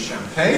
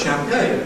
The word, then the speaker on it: champagne: Now, is it correctly entered in the dictionary as champagne? And I said, no, it isn't. It's double stressed. It's champagne.